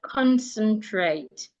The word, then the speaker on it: concentrate: So if a word has three syllables and it ends in at e, we should also stress the first syllable. So I can have the word concentrate.